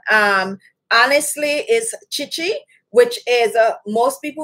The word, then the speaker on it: Khichi: just like k so some people say kichi or um but most people that is familiar with it would be like chichi but chichi is the